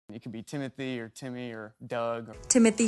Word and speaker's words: Timothée: handle that well uh honestly it's timot but I would not oblige you to say it like that and it could be Timothy or Timmy or Doug or Alan it's timoty that's what it was